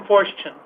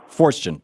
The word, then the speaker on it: Forstchen: Newt Gingrich and William, is it Forstchen? Am I pronouncing it right? William Forstchen. Forstchen.